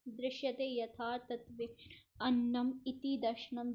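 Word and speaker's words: दर्शनम्: दृश्यते यथार्थ तत्वे अन्नम इति दर्शनम। जिसके पीछे, जिस चीज़ के भी पीछे ऐसे डॉट लगा हो ना लास्ट में, उसको म प्रोनाउंस करते हैं, उसके लास्ट में म आता है।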